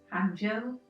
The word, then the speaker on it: Hangzhou: Yes, I'm trying to get the correct pronunciation. It was... Hangzhou. I nearly said Jiushun. It was Hangzhou.